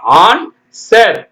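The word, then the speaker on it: answer: sold வால் ஏ என் எஸ் டபள்யூ இ ஆர் ஆன்சர் ஆன்சர் ஆன்சர் பதில் சொல்றீங்களா அது அடுத்து பாருங்க ராங்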